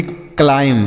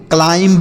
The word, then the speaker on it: climb: अगला CLIMB, इसे हम पढ़ेंगे क्लाइम। क्या पढ़ेंगे? क्लाइम पढ़ेंगे। यहाँ पर जो बच्चों बी लिखा गया है ना, यह साइलेंट है, मतलब इसका उच्चारण नहीं करेंगे, इसे पढ़ा नहीं जाएगा।